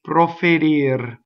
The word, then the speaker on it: proferir: Ne proferir. Proferir. Notice the coordination needed to flip the first R, roll the second R.